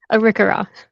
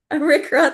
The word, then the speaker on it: Arikara: I'm sorry, Alisha, can you confirm that pronunciation? I always mess up that third word. Arikara. Arikara, thank you, Nation, and enjoys working and living in her ancestral homelands.